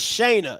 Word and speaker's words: Shanea: His name is Shana. It's spelled Shanea.